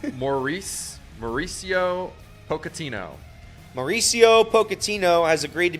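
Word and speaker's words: Mauricio Pochettino: unbelievable uh soccer news you want me to pronounce it for you please it's morrice Mauricio pocino Mauricio pocino has agreed to become the new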